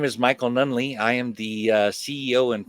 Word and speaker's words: Nunneley: did yes you did nunley that's it oh good good i had to google it yeah it's it's swedish so that so the pronunciation is is might be a little weird with the spelling and all that outstanding outstanding so michael